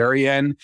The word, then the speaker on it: Rensselaer: That's how I'm going to pronounce it, Rensselaer.